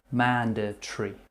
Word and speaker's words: mandatory: instead of restaurant here we're saying manda tree instead of mandatory means you must do something I would say it's not mandatory to say mandatory with four syllables you can just say it with three mandatory he told Perth's Magistrates